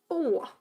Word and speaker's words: å: So it's oh. Oh. I'm trying to think of a word in English that has a similar sound. Oughta. You oughta do that.